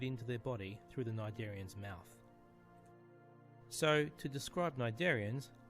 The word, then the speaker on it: Cnidaria: Jellyfishes, corals, and sea anemones belong to a group called Cnidaria. The C is silent, which is a word